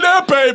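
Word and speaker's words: épée: It's an epee, by the way. Epee. Oh, it's like an epee pen. Yeah, you pronounce it in a way.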